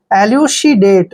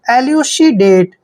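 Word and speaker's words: elucidate: देखिए एलू श और डी ए का उच्चारण डे करते हैं और टीई को ट पढ़ते हैं एलुसीडेट देखिए एलुसीडेट एलुसीडेट होता है समझाना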